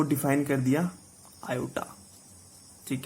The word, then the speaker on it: iota: This is नॉट I, this is आयोटा, IOTA, आयोटा। इट इज प्रोनाउंसिएटेड एज आयोटा whose square is -1।